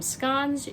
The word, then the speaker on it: scones: I'll probably make some scones. I'm Scottish. We pronounce them scones. You might pronounce them scones.